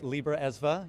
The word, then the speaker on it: Libra Esva: Yeah, you know, there is a lot of history around that and thank you for pronouncing it correctly. Libra Esva, you know, we end up spending a couple